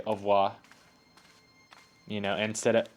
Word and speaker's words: au revoir: Au revoir, monsieur. Au revoir, monsieur. Ah, I wish I was French so I could say au revoir. You know, instead of au revoir, you know, like we Americans make it three Hello, Nico.